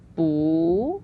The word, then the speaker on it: 不: talking about now so there are two different ways to pronounce the word now in the dictionary it's always going to be the pinging fourth tone but then in the variation it becomes boo which is second tone so okay so I'm